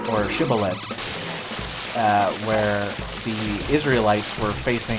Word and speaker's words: shibboleth: And if they said that ending sound with a th sound, kind of a soft th, then I think that was the Israelite army.